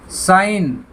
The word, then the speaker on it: sign: तो देखिए SIGN, साइन, SIGN, तो यहाँ पे जी साइलेंट है, वो बोला जा रहा है साइन।